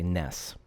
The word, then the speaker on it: NES: game console in America we colloquially say Ness angry Ness and not NES but that's because just